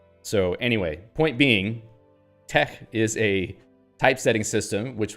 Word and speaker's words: TeX: And it actually is supposed to be pronounced like Greek letters, I think. And the X is actually a he, which is like a sound, like tech. But you can just call it tech.